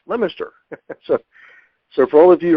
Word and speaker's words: Leominster: She's from outside of Boston in a town called Leominster, and it's actually spelled Leominster, but I've been around Massachusetts enough to know it's pronounced Leominster.